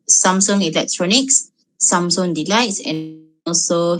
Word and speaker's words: Samsung: all these brands like samsung the spelling um how to say a spelling is like samsung but then the pronunciation is some song like from the korean words it's samsung and then hyundai usually